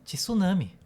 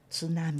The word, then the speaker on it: tsunami: O TS em japonês é uma uma sílaba só. É um um é uma emissão de voz só. Então não é tsu, mas é tsu ts ts tal como nossa colega.